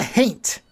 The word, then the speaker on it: haint: But somebody refers to the creature as, is it a gant? Is that what they call it? It's a haint. A haint. It's the word ain't with an H in front. Which is apparently H-A-I-N-T.